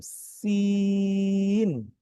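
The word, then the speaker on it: سين: তারপরে তার পরবর্তী যে হরফ সেটি হচ্ছে হলো সিন, সিন। এই হরফটি ইংরেজিতে একটা লেটার আছে সি, ABC, সেই সির মতো। সিন, সিন।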